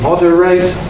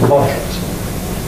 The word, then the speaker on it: moderate: The verb is to moderate, the adjective is moderate.